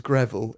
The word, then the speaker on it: Greville: Obviously he made this up, but it blows my mind that your surname is Greville. It rhymes with Neville, who is one of my besties, and Breville, which is my favourite toasty maker.